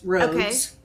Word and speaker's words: Rhoads: Okay, and it's spelled RHOADS, roads.